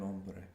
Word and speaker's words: hombre: word for man was begins with a Silent Age The Man el hombre el hombre el hombre if